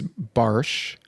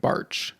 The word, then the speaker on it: Bartsch: So Something about technically, the way that you said that is how it's supposed to be pronounced in Germany is Barsch, Barsch. but we have Americanized it to be like Barch, like March, Barch.